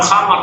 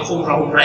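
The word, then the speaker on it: خمرة: Bukan khamar tapi khumrah itu semacam tikar. Nah, itu karena keliru dalam membaca.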